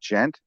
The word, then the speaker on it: djent: There's a form of a genre of music called gent. It's spelled DJENT, where it's just this really crazy technical shit that's always in like drop D or I don't know.